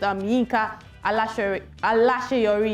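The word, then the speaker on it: Yinka Alaseyori: She made a remark concerning a fellow gospel artist, Yinka Alasheyori, yes, that's the pronunciation, of a song titled Onuduromi, in a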